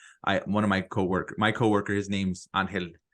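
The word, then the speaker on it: Ángel: One of my coworker, his name's Angel. He pronounces it Angel, but everyone calls him Angel.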